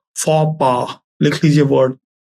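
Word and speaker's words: faux pas: जी A double F ई गफे ठीक है फ पा लिख लीजिए वर्ड फ पा बताता हूं मैं स्पेलिंग लिखिए एफ ए यू एक्स एफ ए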